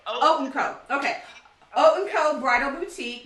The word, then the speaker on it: Haute & Co.: Think of it like oatmeal. Haute Co.